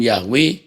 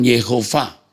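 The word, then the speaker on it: יהוה: melakukan penginjilan kontekstual 7 banyak orang latah melafalkan Tetra gramaton dengan yahwe padahal sudah tanda bacanya seharusnya dilafalkan yehuva pelafalan Yahweh adalah pengaruh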